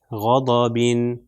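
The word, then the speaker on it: غضبٍ: کا ایسے تلفظ ہوگا غین زبر غا، ضاد زبر ضا، اور با کے نیچے دو زیر، با کے نیچے دو زیر، تو بن کی پروننسیشن تو یہ ہو جائے گا غا ضا بن، غضبن، غضبن.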